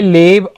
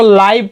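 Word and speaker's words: live: आई लिव a peaceful लाइफ without fear, मैं लाइव, इसको लाइव पढ़ेंगे ना, लीव भी पढ़ सकते हैं, लेकिन लाइव जो है ना इसका सटीक प्रोनाउंसिएशन है, क्योंकि यहाँ पे एक रूल फॉलो कर रहा है ना।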